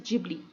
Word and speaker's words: Ghibli: Many of you pronunciate it like ghibli art, but it is not ghibli, it is ghibli.